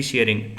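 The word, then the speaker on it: Tshering: और यहाँ के प्राइम मिनिस्टर लोटे टी शेयरिंग। यहाँ पे टी साइलेंट है तो शेयरिंग बोलेंगे।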